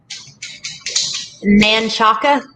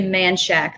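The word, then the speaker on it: Manchaca: uh popular in austin i think i spelled that wrong manchaka it's actually manshack that's what they say oh okay i never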